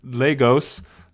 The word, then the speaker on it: Lagos: end of us 1,133 people moved here in Legos Legos Legos Legos uh kind of signs like